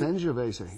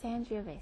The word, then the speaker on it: Sangiovese: Okay, so this, now pronounce it for me again. Sangiovese. Sangiovese.